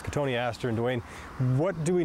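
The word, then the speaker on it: Cotoneaster: us we have a katoni Aster or as Dwayne said commonly mispronounced as cotton Easter but it's Katon Aster and Dwayne what do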